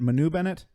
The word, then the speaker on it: Manu Bennett: his face yet but is it Manu Bennett Manu Bennett the guy who plays Deathstroke yeah it's Manu and spoilers by the way